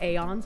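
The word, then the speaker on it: aeons: A is in day or pay. Ans like dons but with a broader ah father sound is the official pronunciation listed for the term in the game.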